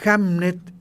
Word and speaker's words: Hamnet: Claro, Hamnet en inglés antiguo se pronuncia igual que Hamlet.